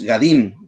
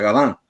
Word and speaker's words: Gadin: La desgracia sucede a una familia de franceses, que acá en Paraguay llamamos Gadín, que en francés el apellido se pronuncia Gadin, pero más conocidos como Gadín.